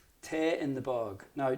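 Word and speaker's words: Tae: So with that in mind, we're going to pick a jig called Te in the Bog. Now, Te is an Irish pronunciation, an Irish pronunciation of the English word tea, and the bog is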